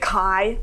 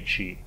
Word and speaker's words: ki: Declan pronounces it Kai, okay. Which is about the worst way you could do that. Dear white people, it's not Kai. It might be Ki, but it's definitely Chi.